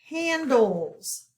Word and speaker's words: handles: We do not hear the E, and it is a short A sound.